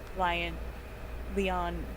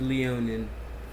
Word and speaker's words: Leonin: And she is a Leon race. I'm not even sure if I'm pronouncing it right, but Yes, she is a Leonin, a beautiful.